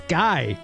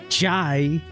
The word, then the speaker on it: Guy: Pronounce the G in Guy like GIF, so it's Guy, not Jai.